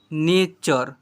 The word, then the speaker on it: nature: को और यानी और से पढ़ते हैं, NATURE नेचर, LECTURE इसे पढ़ेंगे लेक्चर, FUTURE फ्यूचर, CULTURE इसे पढ़ेंगे क्लचर, ऐसे पढ़ेंगे क्लचर।